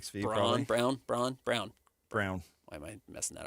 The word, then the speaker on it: Braun: Brown. Why am I messing that up? Brown. It's spelled like Braun, but it's Brown.